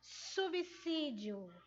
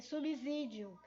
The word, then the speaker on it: subsídio: ela, é a palavra subsídio. Muitos têm uma mania de estar pronunciando a palavra com S, com Z, com som de Z, subsídio.